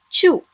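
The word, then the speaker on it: ちゅ: When chi combines with small u, it should be pronounced as chu.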